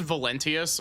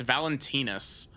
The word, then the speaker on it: Valentini: Valent I've been pronouncing this as Valenteus but this is it's Valentinis human heart can be